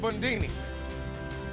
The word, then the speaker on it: Bundini: I'm called Bundini. Rhymes with Houdini.